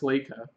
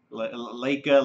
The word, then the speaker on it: Laika: mean okay first off I think he's pronounced Leica Leica Leica I'm sorry for